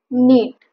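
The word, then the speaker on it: knit: V4 kills V5 killing नीट विन किंवा विणकाम करणे इथ स्पेलिंग लक्षात घ्या के एन आयटी प्र्स नीट K silent letter प्र्सट नीट नीट टेडथ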